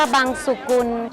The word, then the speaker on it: บังสุกุล: ขอบคุณ มาก นะ คะ ต้อง เรียก ว่า บังสุกุล หลวง เรียก พิมพ์ มา ตั้ง นาน เนี่ย บังสุกุล ค่ะ บาง สกุล นะ คะ เยี่ยม มาก ค่ะ